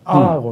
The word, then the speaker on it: ago: アゴ、あ、そう、アーゴって、うん、 AGO、アーゴって読むらしいん